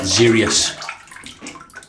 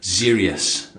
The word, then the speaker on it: Xeryus: Baby Smooth with the Zerius. Yeah, I've written it down phonetically. Zerius. Z E R E E U S. Zerius.